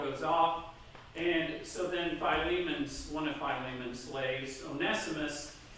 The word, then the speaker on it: Philemon: to diane not telling her beforehand that is pronounced philemon so in paul's letter to philemon so the back story is that paul has